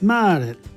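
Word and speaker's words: Maret: that word but practice makes perfect March is mared mared mar the month of April is AAL AO but of course it's spelled the same as in in English the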